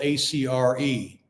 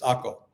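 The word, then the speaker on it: Akko: just north of hia AKO in English is spelled AC re but in Hebrew and everyone here calls it AKO you don't call it acre or ACA it's AKO so anyway that's where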